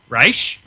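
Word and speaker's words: Ra's: actually made a comment about our pronunciation of Raz or Raish. He said, you guys need to make up your mind. And I'm like, well, then Raish, because it's the correct pronunciation.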